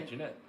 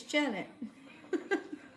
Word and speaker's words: Janet: know but it's like what an extra n will do to your name it's jen yeah jeanette you said jeanette it's janet well i'm not good